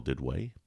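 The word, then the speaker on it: Duduit: discretion can follow me on twitter at dell did way my last name is spelled d-u-d-u-i-t first name is dell d-e-l so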